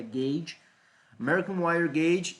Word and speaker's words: gauge: Gauge, American Wire Gauge, estava tentando lembrar da pronúncia disso aqui, é Gauge, American Wire Gauge e milímetros quadrados.